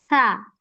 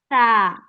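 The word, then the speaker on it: ث: হ্যাঁ, জিহ্বার আগার জিহ্বার সামনে। আগা হ্যাঁ, সামনের দুই দাঁতের আগার সাথে আগার লাগিয়ে সাথে উচ্চারণ লাগবে। করতে হয় সা।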